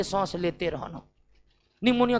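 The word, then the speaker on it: pneumonia: बार देख लेते हैं निमोनिया जिसके नाम में पी साइलेंट रता है यह दो प्रकार के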